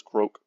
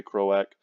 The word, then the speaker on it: Croak: Lord crack or croak I like to pronounce this croak I know some people say crow ACK I mean he's a frog he's a giant frog Lord croak makes sense to